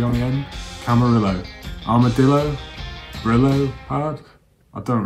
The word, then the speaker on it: Camarillo: So for this one, I'm going to go for camarillo, like amarillo, which I think means yellow in Spanish.